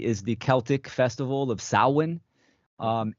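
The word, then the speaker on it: Samhain: understand is the is the Celtic Festival of saan um s h a i n pronounced sawin um this is a a Gaelic tradition right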